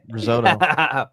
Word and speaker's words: risotto: Even though it's a T. Even it's a T. You have to pronounce it as a T.